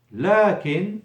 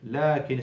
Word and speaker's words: لكن: لكن, but, as you can hear, لكن is written with the alif between the lam and the kaf, but not pronounced.